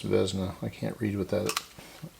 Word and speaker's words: Vesna: that so that's off i believe that's pronounced uh vesna with this pronounced vezna i can't read what